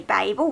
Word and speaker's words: Babel: to talk about is Babble by our Quan I know some people say Babel but I I just say Babble words I know there's